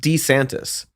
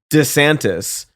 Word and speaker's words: DeSantis: Um, his name is pronounced D Santis. Yes. Um but he pronounced it Dantis.